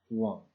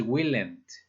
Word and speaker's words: won't: Y la forma contraída del will not es won't. Sí tiene un cambio, pues, que se debe observar, porque no es willent, por ejemplo. ¿De acuerdo? No se pronuncia willent, es won't. La forma contraída es won't.